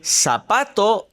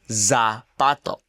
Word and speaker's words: zapato: Z is pronounced like an s. Say zapato instead of zapato.